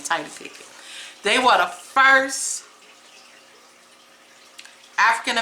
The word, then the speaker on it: Tidye Pickett: That's how I pronounce her name, Tidye Pickett.